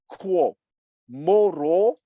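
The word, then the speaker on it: 郭沫若: Okay, Guo Moruo, I will spell his name, is G-U-O, okay, but the G in Pinyin translation is pronounced like a K. So for an English-speaking person, imagine K-U-O, Guo Moruo, M-O-R-U-O, is his given name.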